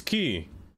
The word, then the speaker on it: quay: No, no, I always say quay because that's how it's that's how it looks like it's spelled, but apparently it's key, which doesn't make sense.